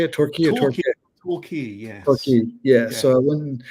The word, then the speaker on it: Torquay: Torquay or Torquay?